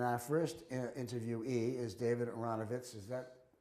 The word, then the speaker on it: Aronovitz: Today is April 14th, and our first interviewee is David Aronovitz. Is that correct pronunciation, David? Aronovitz is fine.